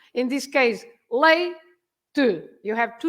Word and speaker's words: leite: You have to say lay and then to, right? So you stress the one before the last.